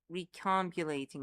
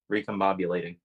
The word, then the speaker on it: recombobulating: You say you're the ones who keep, recombulating me. But I thought for sure that was Tori? Recombobulating. Recombobulating. We thought we pronounced it like that. He said recombulating.